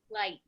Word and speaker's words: light: it's like I yeah how about light light I good you hear I in